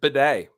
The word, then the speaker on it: Bidet: He clarified that his name is pronounced bidet, like the bathroom thing. I like the way that I say it. I'm gonna call him Beatty from now on.